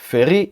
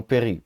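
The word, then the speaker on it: פְּרִי: Feri e não peri. Por que feri e não peri? Porque a palavra anterior, bo, termina com uma sílaba aberta, com uma vogal.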